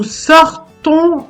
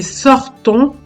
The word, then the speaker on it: sortons: Dans les mots avons et sortons, première personne du pluriel des verbes avoir et sortir au présent de l'indicatif, le son on s'écrit ONS, mais on ne prononce pas la lettre S.